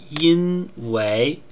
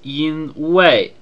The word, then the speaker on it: 因为: Taiwan they pronounce this in way with the second character being the fourth tone instead of the second tone whereas in mainland China